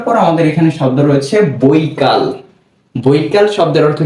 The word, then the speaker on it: বৈকাল: এর উচ্চারণটা হবে কি ব ঐকার বই, ক আকার কা, বই কা। এরপর যদি আমরা ল লিখি তাহলেই হয়ে যাবে কি বৈকাল।